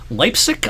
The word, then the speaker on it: Leipzig: Leipzig, I believe, is how you pronounce the town that this was near.